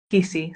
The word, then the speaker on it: Teakisi: Teakisi. So it's like tea That's that you drink. tea that you drink, kissy. Yeah. Okay, all right. Going back to Teakisi, so you've told us